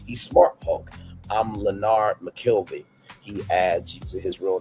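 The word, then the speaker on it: McKelvey: I'm Lonard McKelie. He adds to his real name, emphasizing the second syllable of his last name.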